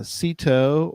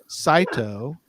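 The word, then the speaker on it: CITO: week is coming up for those that are familiar with uh seto or the alternate pronunciation which is incorrect but you can still say it that way if you wish cyto cash in trash out season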